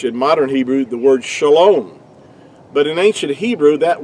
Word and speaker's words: shalom: It's pronounced, really, to be more accurately, would be shalom.